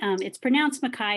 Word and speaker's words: McKay: My name is McKay, but it's pronounced McKay because it's Scottish, but just McKay.